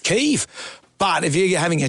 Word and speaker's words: Kyiv: Kiev is not how it's actually pronounced. And since we've understood the nature of that part of the world recently, we now know you do pronounce it Kyiv. Kyiv.